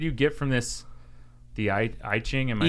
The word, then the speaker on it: I Ching: The I Ching? Am I saying I Ching? It sounds E, but it's spelled with an I.